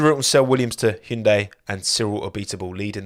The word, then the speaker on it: Hyundai: team and it's pronounced Hyundai not Hyundai not Hindi not it's Hyundai that's how the Koreans pronounce it I checked when I